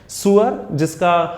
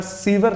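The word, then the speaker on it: sewer: और third one का pronunciation आपको याद हो, सुअर होता है, माफ कीजिएगा आप डिक्शनरी से चेक कर सकते हैं। सुअर जिसे हम इंडिया में सीवर लाइन कहते हैं नाले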